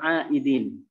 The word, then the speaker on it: aidin: Ya, maka diucapkan minal aidin. Dari kata ada ya'udu, isim fa'ilnya apa? Aid. Ya, bukan aidin, bukan nggak pakai zal, tapi pakai dal. Ada ya'udu. Ya. Aidin.